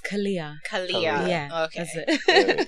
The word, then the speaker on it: Khalia: Khalia, yeah. That's how you pronounce it. Okay. Yeah. Khalia. I get Khalia. different variations. I've had Khalia, Khalia. So yeah. But it's Khalia.